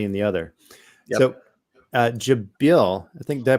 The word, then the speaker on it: Jabil: So Jabil, I think, did I pronounce that right, Joseph? Jabil, sir.